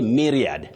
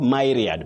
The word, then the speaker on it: myriad: Rose Njoki of Muranga, you say myriad, not myriad.